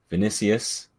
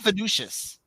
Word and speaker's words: Vinícius: 10 minutes after that vinícius that's how it's pronounced if anyone has any doubts not initially not vicious yes yes it's vinícius like the Real Madrid winger scores a header somehow